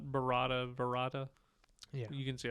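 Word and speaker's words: Barada: So it's Klaatu, Barata, Nikto.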